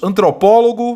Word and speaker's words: antropólogo: É correto afirmar que, nos termos antropólogo e fotógrafo, a sílaba tônica recai na penúltima sílaba. Falso. Antepenúltima. São palavras proparoxítonas.